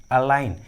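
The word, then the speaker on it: align: Trick के अनुसार जी silent है, जी का उच्चारण नहीं किया गया है। उसी तरह डिज़ाइन, अलाइन, देखिए दोनों इंग्लिश वर्ड्स में भी जी एन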